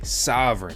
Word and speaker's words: Sovryn: of the sov token sov sovereign but it's not spelled like the sovereign you may be thinking of it's spelled differently